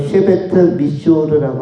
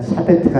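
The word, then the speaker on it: שבט מישור: 이 규라는 단어는 히브리어로 쉐베트 미쇼르라고 합니다. 쉐베트 미쇼르. 우리가 여름에 아이스크림 대신에 샤베트라는 걸 만들어 먹었죠. 그거와 발음이 비슷한 샤베트가 아니라 쉐베트 미쇼르.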